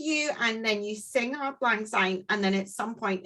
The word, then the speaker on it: Auld Lang Syne: It's called Auld Lang Syne.